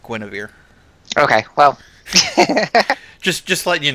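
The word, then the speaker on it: Guenhwyvar: Yeah, although it's spelled oddly, it's actually pronounced Guinevere.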